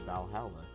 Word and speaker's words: VA-11 Hall-A: like wrestling all right the name sounds silly and a bit hard to pronounce good thing it's actually called Valhalla the funny numbers and